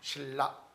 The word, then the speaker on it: 신라: 근데 이거 유음이고 요거 유음으로 바뀌죠. 실라가 되죠. 자, 신라는 고유명사죠. 대문자 S. 그 다음에 I. 그 다음에 리얼이니까 LL이 되죠. 그 다음에 A죠. 신라. 이렇게. 신라.